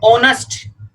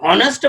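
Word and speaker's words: honest: इसी तरह से इसको हम बोलते हैं ऑनेस्ट। यदि इसको हमने हॉनेस्ट बोल दिया, हॉनेस्ट इज a wrong pronunciation, तो हमारा है आएगा तो इसके हिसाब से ए आना चाहिए, इसलिए हॉनेस्ट नहीं होता, ये ऑनेस्ट।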